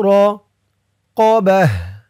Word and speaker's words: رقبة: সাকিন তাহরিরু র তাহরিরু র কবাহ এখানে দেখুন তাহলে আমি হা উচ্চারণ করলাম কেন কারণ হচ্ছে এই ত চিহ্নতে অক্ফ করেছি অক্ফ করার সময় গুল তা থাকলে সেই গুল তাটা হা হয়ে যায় আও কিসওয়াতুহুম আও তাহরিরু